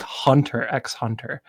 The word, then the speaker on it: Hunter x Hunter: Can I just say how happy I am you pronounced the X?